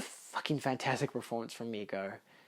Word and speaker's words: Goth: And just a fucking fantastic performance from Mia Goth. I'm pretty sure it's just pronounced Goth.